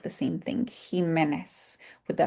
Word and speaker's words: Jimenez: and today's extension session, Jimenez can be spelled with a J at the beginning, a G at the beginning, or an X, and it still sounds like the same thing, Jimenez, with the H at